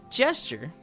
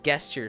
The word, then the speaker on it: gesture: It's it's gesture, but it's spelled with a G. So like I will just read it as guesture sometimes.